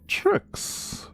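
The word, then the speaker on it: Tryx: She goes by the name the name of tricks and while sheert it's pronounced tricks but spelled tr yx have an i in there instead of a y excuse me instead of an i.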